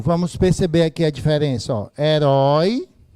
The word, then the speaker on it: herói: herói heróico Oi gente herói é o que quanto a sílaba tônica oxítona paroxítona proparoxítona é oxítona e o assento do olho das oxítonas desapareceu não só desapareceu das paroxítonas então é herói tem acento Oi e aí como